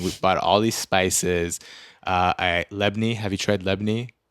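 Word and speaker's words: labneh: Lebni. Have you tried lebni? Yeah, but I say labne, which I'm now realizing is not the right way to say it.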